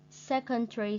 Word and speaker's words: secondary: Secondary school, trường trung học cơ sở. And we put the stress mark on the first syllable, secondary.